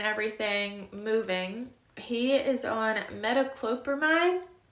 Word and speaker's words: metoclopramide: moving, he is on metoclopramide. Metoclopramide, I believe is how you pronounce it, which is this one that he was trying to break in just a minute ago.